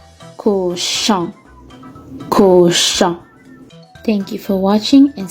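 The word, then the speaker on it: cochon: u r makes fleur our next sound is on o n makes the sound on in the word koshan there is the sound at the end c-o-c-h-o-n kusha thank you for watching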